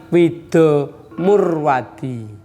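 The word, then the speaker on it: Widu Murwadi: Saya itu nama lengkap saya Widu. Bacanya Wido Murwadi.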